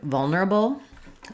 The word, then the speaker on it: vulnerable: This is one that I often hear native speakers mispronounce as well. So because it has the vulner, it has the ul and the ner and the n sound together.